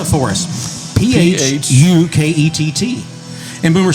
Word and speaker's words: Phuket: Okay, spell it for us. P-H-U-K-E-T-T.